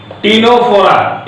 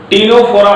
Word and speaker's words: Ctenophora: तो इस तरह से ये फाइलम टीनोफोरा, फाइलम टीनो, सी साइलेंट है, टीनोफोरा, इसको सी साइलेंट है, ध्यान दीजिएगा, टीनोफोरा पढ़ा जाएगा, टीनोफोरा।